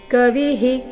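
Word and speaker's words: कविः: ಕೊಡಬೇಕು ಕವಿನಾ ಮುಷನ ಕವಿಹಿ ವಿಸರ್ಗ ಉಚ್ಚಾರಣೆ ಹಿ ಕವಿಹಿ ನೋಡೋಣ ಪೂರ್ತಿ ಶ್ಲೋಕ ಮತ್ತೊಮ್ಮೆ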